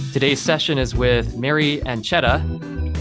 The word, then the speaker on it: Ancheta: Today's session is with Mary Ancheta, as in pancetta.